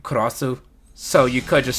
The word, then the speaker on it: Cross-Z: because when you spell cross, the Z is silent, but the dash Z, like CROSS-Z, that's the official way to spell it.